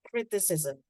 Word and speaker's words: criticism: Criticism with Z sound.